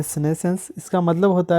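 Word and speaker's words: senescence: सिनेसेंस इसको pronounce करते हैं सिनेसेंस।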